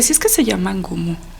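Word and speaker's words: Ngumú: Que suena como, no puedo porque gutural. Es gutural. Sí. N-G-U-M-U, algo así como un Gumú.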